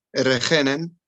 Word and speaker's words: regenen: Regende, regenen. The emphasis, de klemtoon, is op regen.